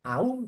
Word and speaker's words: aun: De manera que si yo digo, aun cuando sea verdad, no te creerán, habré cometido un error prosódico, un barbarismo, porque en ese caso la palabra debe pronunciarse como diptongo, aun.